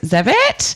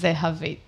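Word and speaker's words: Zehavit: in so this is zevitt i call the zevit but how do you actually pronounce your name um you spell it z-e-h-a-v-i-t so it is they have it and it's mean little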